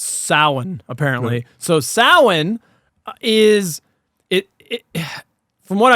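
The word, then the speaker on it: Samhain: Halloween 2 like why did they have the Sam Hayne thing y well so as it's pronounced sa apparently so sin is it it from what I've read sin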